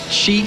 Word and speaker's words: XY: We've got XY, who will be playing in a little bit, or Shi, I think you... Shy. Shy. Shy is actually how you say it.